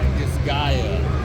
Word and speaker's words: Disgaea: How do you pronounce it? Disgaea.